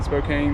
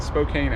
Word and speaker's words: Spokane: pass we'll get we'll be in spokane or spokane thanks because they call it spokane out here so i guess that's how it's supposed to be pronounced and then after that